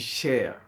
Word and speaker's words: Cheikh: en arabe on dit cher voilà cher en tadiop comme la chair là C H a i r voilà c'est comme ça